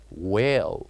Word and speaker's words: whale: the silent letter here by saying this word whale what do you think the silent letter is is it g g h k or H you guessed it right the silent letter here is H whale very good now let